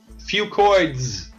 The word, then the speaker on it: FucoidZ: The two products are Zradical, which is a liquid, and FucoidZ. FucoidZ. Say that 10 times fast. I call it FucoidZ because that's easier to pronounce.